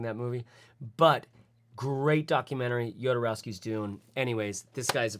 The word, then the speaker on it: Jodorowsky: the entire world is called yodorowski's dune that's how it's spelled j-o-d-o rousky yodorowski's doom it was the best